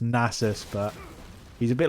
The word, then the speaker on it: Nasus: of some familiar faces the nasis iconic obviously is pronounced nasus but he's a bit